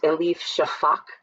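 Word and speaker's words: Elif Şafak: I believe the author's name is pronounced Elif Shafak.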